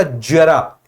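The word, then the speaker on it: ज़रा: होगा जे के साथ इसका उच्चारण होगा जेड के साथ हल्के से घर्षण के साथ एक का वचन जरा और एक का जरा ऐसे होगा हल्के से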